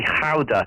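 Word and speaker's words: Gouda: a Dutch school and she always corrects my pronunciation of Gala because and she always tells me should be howder how how accurate is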